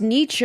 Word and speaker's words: Nietzsche: Nietzsche is pronounced Nietzsche.